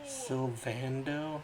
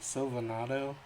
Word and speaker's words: Sylvando: Sylvando? I was saying it wrong. Sylvando. What was I saying? Sylvanado? Yeah, Sylvando, I guess, makes more sense.